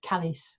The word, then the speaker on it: Calais: around calais the pa although at the time they called it callis like to rhyme with alice anyway so what we